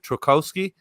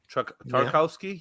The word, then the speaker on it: Tarkowski: But is it Trukowski, their left back? Tarkowski? Yeah.